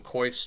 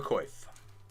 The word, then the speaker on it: coif: You should also have a coif. The coif makes it more fun. I've also heard it pronounced coif. Only by 2 people in the world.